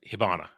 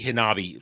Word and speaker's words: Hibana: it let me say I want to say it right hibana I keep want to say Hanabi fireworks hibana hibana basically isolates when